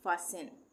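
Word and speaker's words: fasten: है तो यहां पे हम इसको क्या पढ़ेंगे फासेन फासेन टी का उच्चारण नहीं होगा फास्टेन नहीं पढ़ेंगे फासेन इसी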